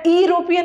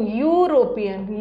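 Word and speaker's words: European: ई से स्टार्ट है लेकिन इसको अरोपियन नहीं पढ़ेंगे या इरोपियन नहीं पढ़ते हैं। ये इरोपियन नहीं है। ये है यू यू यू यूरोपियन यू यूरोपियन य आ रहा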